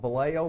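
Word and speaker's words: Valeo: And I don't have time to go into it right here, but it's spelled Vallejo, V-A-L-E-O, the Vallejo Method.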